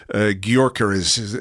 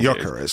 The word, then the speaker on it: Gyökeres: the links with Ivan Toney, the links with Gyökeres, if that's how you pronounce his name. I really should have learned how to pronounce his name by now. Gyökeres, I think. Gyökeres.